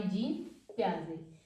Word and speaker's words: Jean Piaget: Pronunciation यही है, बाय जीन पियाजे।